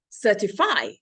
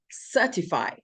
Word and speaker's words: certify: Or some people say certify when it should be certify.